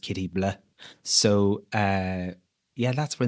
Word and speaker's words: Katie Bleu: We didn't want it like kitty bl or bl u e. We wanted it like blleh. So we spelled it the French way. And um it's pronounced kitty blah.